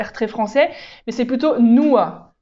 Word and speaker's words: nur: français mais c'est plutôt noa noa c'est presqu'un a en fait à la fin alors le nous en